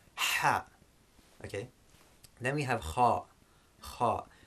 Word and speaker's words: kha: Then we have kha. Kha. This is the equivalent of the ch in the Scottish dialect. So for example, where they say loch, that ch sound is this ch.